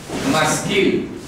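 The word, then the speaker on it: מַשְׂכִּיל: Por los hijos de Coré, Masquil.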